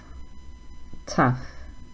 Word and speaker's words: tough: Rough, tough, enough. So they all have a similar sound at the end. It sounds like uff.